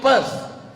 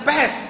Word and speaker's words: Perth: I am going to Perth. Bukan pest. Kalau pest penyakit. Perth.